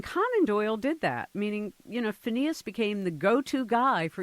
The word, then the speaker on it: Phineas: Phineas, is that how you pronounce his name?